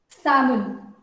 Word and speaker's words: salmon: Salmon. L is silent.